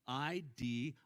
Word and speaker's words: idios: So I click on it and it's spelled I-D-I-O-S, idios, which sounds a lot like, I was like, oh man, wives, submit yourselves to your idiot husbands.